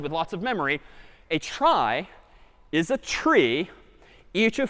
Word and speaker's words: trie: one's called a try short for retrieval even though it's pronounced differently a try is the